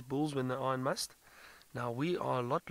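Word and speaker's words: musth: So Kylie, the word must, and it's spelt M-U-S-T-H, is originally an Indian word, I believe.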